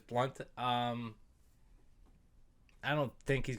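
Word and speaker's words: Blount: his name i read i read it blout but it's blunt um i don't think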